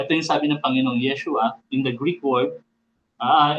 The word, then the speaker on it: Yeshua: sa mga hindi nakakaalam in Greek word na nahihirapan po mag-pronounce ng ah mga Greek sa meron silang difficulty sa pagsalita ng SNH H. So hindi nila mabanggit yung Yeshua kaya ang translate nila doon is Yesus.